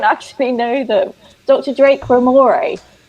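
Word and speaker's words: Ramoray: Drake Ramore. Not Ramaray.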